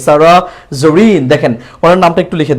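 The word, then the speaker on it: Zarin: একটা জেড আছে এবং জেড থাকলে এটা জ এর মত করে উচ্চারণ হবে এজন্য বলতে হবে জারিন জারিন কেউ যদি জেরিন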